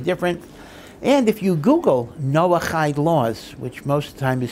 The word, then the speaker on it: Noahide: also very very different and if you google noah hyde laws which most times is spelled as no like noah n-o-a-h-i-d-e noah height you will actually see a lot of websites